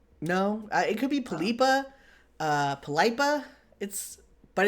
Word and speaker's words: Polypa: Presuming that other one is Polypa, like a Polypa, polyp. yeah. Honestly, Are I'll they be related to sea creatures or anything? No, it could be Oh. Polypa, Polypa.